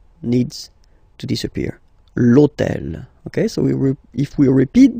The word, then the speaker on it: hôtel: starts with H, but remember that in French we don't pronounce H, okay, so basically the first sound of the word is the vowel O, okay, so for the same